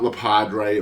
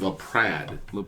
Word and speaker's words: LaPrade: with Luke lead um it's not ladre or Lea or Le or any of that it's lead lead remember it rhymes with Brad that's how or Chad